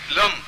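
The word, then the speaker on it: लं: लिखें आगच्छ, आगच्छ, और फिर लिखें लम, ल के ऊपर बिंदी, फिर लिखें रम, फिर लिखें गम, ये तीनों बीज हैं, लम रम गम, फिर लास्ट में लिखें फट।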